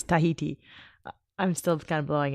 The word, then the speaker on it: Tahiti: How do you say Tahiti? Tahiti. You don't say Tahiti. Do it one more time. Californians, we tend to say Tahiti.